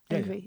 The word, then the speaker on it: Yngwie: Yes, and I would also say, I don't want to say respect to YNGWIE. I really don't. Am I saying it right? YNGWIE, yeah.